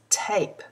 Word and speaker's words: tape: vowel sound for a if we put the silent E on the end of tap the word becomes tape t a p kit